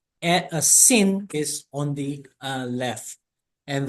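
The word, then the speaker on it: שׂין: And if there is a letter on the left side, and that would be a sin.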